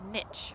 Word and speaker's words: niche: fill that hole that's called a niche or a niche people kind of pronounce it either way and they'll fill all